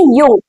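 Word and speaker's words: Jung: आप बोलेंगे यंग तो जंग नाम चाहिए। जंग जंग जंग नहीं बोला जाता इसको। जे हमारा साइलेंट होता है। इसको बोलते हैं यंग।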